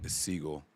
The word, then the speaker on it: Sigle: Is it Sigle? Saigel their fifth rounder. is Seagull.